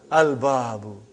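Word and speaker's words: الباب: Al-babu. Is it moon letter or sun letter? Moon letter. You did pronounce lam.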